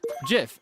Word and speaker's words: GIF: Yes, GIF, as in the correct pronunciation as designated by the creator of the format.